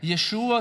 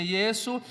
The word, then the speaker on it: Yeshua: Não tem tanta importância o sotaque que você disse, é Yeshua, se você mora mais ao sul de Israel, ou Yeshua, se você mora ao norte de Israel, ou se você é grego, você pronuncia Yesu, ou se você é brasileiro, pronuncia Jesus, ou se você é americano, pronuncia Jesus, enfim.